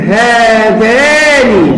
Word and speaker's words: هذان: عندما ننطقها نقول هذان، لكن لا تكتب بهذه الطريقة.